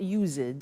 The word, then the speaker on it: used: It's U-S-E-D and then T-O. But the pronunciation is not used, it's used. Unusual.